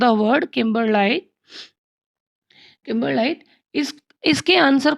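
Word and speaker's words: kimberlite: Transcription for the word किम्बरलाइट। किम्बरलाइट, इस इसके answer को डाउट में रखा जा सकता है, क्योंकि प्रोनाउंसिएशन इसकी देखा जाए तो ये होना चाहिए, ये था किम्बर लाइट, ठीक है।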